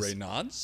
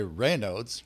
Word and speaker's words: Raynaud: pronunciation of rodes disease Rod right some people say Rod some people say rodes Rod however you want to pronounce it but I I think